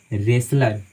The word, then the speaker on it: wrestler: पहले डब्ल्यू आता है, तो वहाँ पे डब्ल्यू जो है सो साइलेंट होती है, उसका उच्चारण हम बिल्कुल नहीं करते हैं। जैसे WRESTLER, तो हम इसको पढ़ते हैं रेसलर।